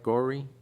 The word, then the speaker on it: Gori: Gori? G-O-R-I? Gory, yeah.